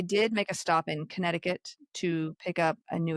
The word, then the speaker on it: Connecticut: They did make a stop in Connecticut to pick up a new assistant engineer. Do you ever say Connecticut when you're trying to spell it? Because there's like a C right there.